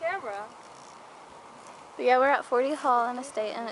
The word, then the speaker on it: Forty Hall: It's like, it's on 40 Hill, but it's called 40 Hall.